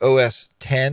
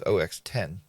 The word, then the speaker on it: OS X: operating system so uh Mac OS 10 or OS X however you want to pronounce it it is ox10 all right so what